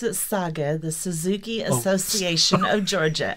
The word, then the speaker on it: SAGA: all so Colleen you are the president of SAG is that how you say or did I say it wrong we pronounce it saga the Suzuki Association of Georgia sa GA you're